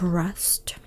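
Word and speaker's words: wrest: a different nope it's it's pronounced as rust like rest but with a w so rest to rest with the w in front of regular rest is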